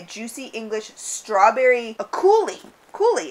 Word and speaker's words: coulis: Coulis, it's French. It's pronounced coulis.